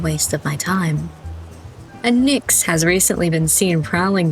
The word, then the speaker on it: Nyx: Nyx pronunciation. Is it Nyx?